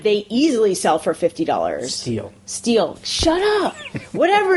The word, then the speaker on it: STIHL: The steel. The still, whatever the steel. That's how you say it. That's how you say it. It's STIHL.